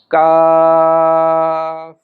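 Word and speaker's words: ك: এই অক্ষরটি উচ্চারণ করতে হলে জিহ্বার গোড়ার আগের অংশটি উপরের তালুর সঙ্গে লাগাতে হবে। তাহলে এই কাফ উচ্চারণ হবে। যেমন আমরা উচ্চারণ করি কা। কাফ।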